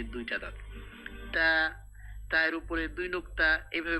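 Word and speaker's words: ت: এভাবে বলতে হবে এটা তা জিহ্বার আগাটা সামনের উপরে দুই দাঁতের গোড়ার সাথে লাগাতে হবে তা সামনের উপরে তো অনেক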